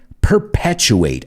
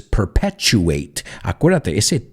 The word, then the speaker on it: perpetuate: thing is the pronunciation you say perpetua but for us is perpetuate future nature perpetuate and